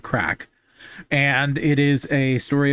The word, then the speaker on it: craic: Uh, Crack in the World is a story that is um, well, it's spelled C R A I C, like the Irish word crack.